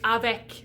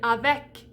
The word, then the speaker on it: avec: would use e so you see that e in avec comes just before a pronounced consonant at the end of the word so it has to be the end and it has to be pronounced if it's not pronounced